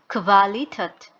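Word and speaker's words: Qualität: খু, খুতে হচ্ছে kvalitet অথবা kvele, kvadrat। তো এই ইউ থাকলে কোয়া না হয়ে kvা হচ্ছে, ভি টাইপের উচ্চারণ হচ্ছে। কোয়াড্রাট, কোয়াড্রাট হচ্ছে স্কোয়ার, নর্মালি যে স্কোয়ার শেপ হয়।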